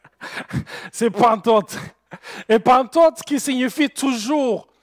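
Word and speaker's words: πάντοτε: mais pour les Québécois, ce n'est pas pantoute, c'est pantote.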